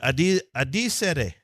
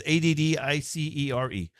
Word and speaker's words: addicere: Addicere. I don't know what that means. It's Addicere. Addicere.